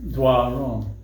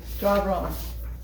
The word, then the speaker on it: Doiron: and that's my name, Doiron. And the pronunciation looks like that if you were to try to play with it. So, Doiron. There's no R in the front. No, not draw. It's just Doiron.